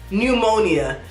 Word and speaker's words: pneumonia: Another pneumonia. Why do you have a P? Get rid of it.